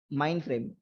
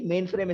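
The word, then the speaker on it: mainframe: जो हमारी कैटेगरी है वो है माइंड फ्रेम, या कुछ लोग इसे माइंड फ्रेम कहते हैं, और मोस्टली मेन फ्रेम इसका सही प्रोनाउंसिएशन है, ठीक है। तो मेन फ्रेम या कुछ लोग इसे माइंड फ्रेम भी कहते हैं।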